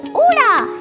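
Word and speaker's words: ੳ: dive in our first Vel is Ura and it sounds like ooh Ura sounds like bubble u in English as an umbrella Kiran can you practice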